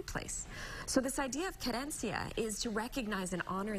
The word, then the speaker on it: querencia: How do you pronounce it? Querencia. Querencia.